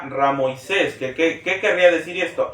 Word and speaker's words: Ramsés: hemos escuchado comúnmente el nombre de Ramsés la pronunciación correcta sería ramoisés que qué querría decir